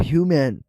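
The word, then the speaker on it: human: ह्यूमन और ह्यूमैन। यह दोनों वर्ड्स अक्सर कंफ्यूज होते हैं क्योंकि स्पेलिंग मिलती जुलती है लेकिन यूज़ और मीनिंग कंप्लीटली अलग है।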